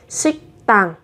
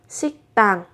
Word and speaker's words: 식당: Thế thì ở phụ âm tờ các bạn sẽ đọc gấp đôi phụ âm lên là 식당, 식당.